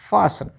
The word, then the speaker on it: fasten: तो HSTEN Hesson, LISTEN Liston नहीं लिशन, OFTEN ऑफ्टन नहीं ऑफन, SOFTEN सॉफ्टन नहीं शॉफन, FASTEN फासन फास्टर नहीं। पता चल गया आपको, TEN में टी साइलेंट रखना है, ठीक है।